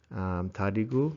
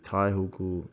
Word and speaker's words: taihugu: I used to always say it wrong to Al. I would always say tadigu for like little brother or little sister, but white fella doesn't know the culture. You actually taihugu is across sexes.